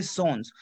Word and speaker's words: sens: Now, for example, if we have a word like SENS, but over here we have to pronounce S. I can say sons. I cannot say son. No, I will say sons.